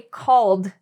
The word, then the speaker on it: called: When I say called, it's actually the D sound.